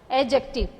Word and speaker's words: adjective: Adjective. Here D is silent.